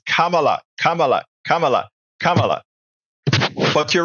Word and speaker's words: Kamala: you need to learn to say her name Kamala I have noticed several times you incorrectly say